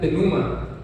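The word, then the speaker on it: πνεῦμα: Ahora vamos también a saber el significado que tiene la palabra espíritu en griego, mis amados hermanos, que se pronuncia pneuma, que es respirar, soplar.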